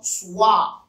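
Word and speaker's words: سواع: The second one is what they call Suwa. Suwa. Suwa. In Arabic, it is spelled Sin, Wa, Alif, and Hamza.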